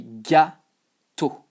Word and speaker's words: gâteau: Well, you say gâteau. With the what we call accent circonflexe. So yeah, gâteau. And here, you know, I-A-U, E-A-U is also pronounced O.